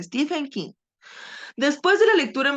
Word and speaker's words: Stephen King: de la niebla de Steven King así se pronuncia Stephen King después de la lectura en voz alta se